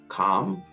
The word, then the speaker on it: calm: A 다음에 LM이 나왔을 때 그때 L 역시 묵음입니다. 대표적인 예로는 calm, palm이 있습니다.